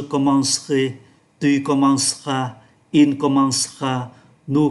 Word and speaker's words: commencerai: Nhưng chúng ta để ý âm tiết mang ký tự ơ này nó đứng giữa hai âm tiết khác, do đó không được phát âm. Và thay vì đọc là commencerai 4 âm tiết, chúng ta chỉ phát âm còn 3 âm tiết là je commencerai, tu commenceras, il commencera,